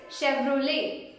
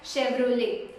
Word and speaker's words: Chevrolet: the actual way is Chevrolet, Chevrolet. Here the T is silent, so you can just call it as Chevrolet. Hey, my dream car is Chevrolet.